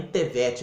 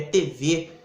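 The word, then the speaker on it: Thevet: Sobre a sua publicação, eu acho que não era nem Tevet, acho que é TV que se pronuncia.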